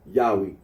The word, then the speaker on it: Yahweh: yahi the scholarly consensus is that the original pronunciation of the T gron was yahwe are Aro agrees that when in the LA